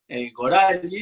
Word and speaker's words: Gorali: Y bueno, para los que no saben, Gorali, en realidad acá en general lo pronuncian Gorali, pero el origen es, en hebreo es Gorali, que significa mi destino, Goral Sheli.